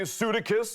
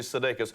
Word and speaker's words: Sudeikis: Is is Sedate, Sudicus?" And I'm like, no, it's actually Sudeikis. "Sue Dickus?" and I'm like, no, that's not that. You're getting further away, Don. Further away, so it's like Sudeikis, and he's just, "all right, Sudeikis."